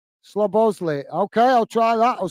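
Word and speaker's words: Szoboszlai: mate uh Rich po sport saying slow block slow bows uh lie is how I'd uh pronounce the Liverpool Hungarian star player slow boss slob Bosley slob Bosley okay I'll try that I'll see if I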